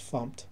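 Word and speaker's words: fmt: and we'll use the fump package or the format package but it's pronounced fump to create a uh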